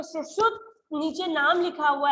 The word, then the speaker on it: सुश्रुत: सुश्रुत नाम है इनका, मैं आपको हिंदी में इसका प्रोनाउंसिएशन दिखा दे रही हूँ, सुश्रुत, ओके, इसका हिंदी प्रोनाउंसिएशन सुश्रुत है।